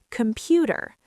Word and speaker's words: computer: Computer in American English, the t becomes a flap t sounding like a fast d. Computer.